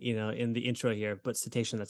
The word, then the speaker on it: cetacean: So so cetacean, that word I got caught up in in the intro here, but cetacean, that's how you say it.